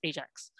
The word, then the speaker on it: Ajax: Like they're known, how do you pronounce A-J-A-X? Is it A-X? Ajax?